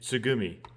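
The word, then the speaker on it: 月海: In Japanese, you write it moon and then ocean and read it tsugumi.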